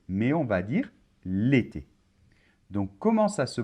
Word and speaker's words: l'été: apostrophe alors on va pas dire par exemple le été mais on va dire l'été donc comment ça se prononce à se prononce comme si dans l'été